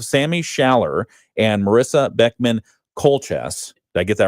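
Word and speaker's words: Keultjes: Colchess. And it's spelled K E U L T J E S.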